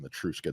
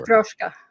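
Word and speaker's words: Matryoshka: I'm saying it wrong. I don't know what the word is in Russian, but they're called Matuska dolls for sure. Matroska. Matroska. That's how you say it.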